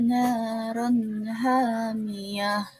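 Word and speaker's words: نَارًا حَامِيَةً: Naron naron naron ro tanwin bertemu dengan h, yaitu huruf halki atau dibacanya itu hizar halki, jelas. Jadi ron tanwinnya itu dibaca jelas.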